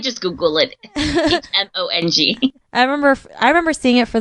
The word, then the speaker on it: Hmong: told me about it, because I just thought you would pronounce the H. Yeah. But now I know it's silent.